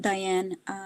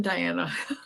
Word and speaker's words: Diana: Can you so you're muted, Diane. Diane, you're muted. Diana. Sorry, I said your name wrong. No, I am Diana. No, but I said Diane first.